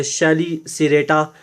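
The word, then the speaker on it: Chelicerata: पहला सब फाइलम जो है वो है ट्राइलोबीटोमॉर्फा, दूसरा है जिसको हम प्रोनाउंस ऐसे कर सकते हैं शेलिसिरेटा, और तीसरा है मैरियापोडा, क्रस्टेशिया और हेक्सापोडा।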